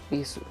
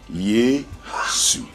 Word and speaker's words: Yesu: local language is yesu yesu see how it's pronounced yesu so it goes up Scoops up so if youing it